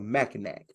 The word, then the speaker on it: Mackinac: I know how it's spelled, but it's pronounced Mackinac. Mackinac.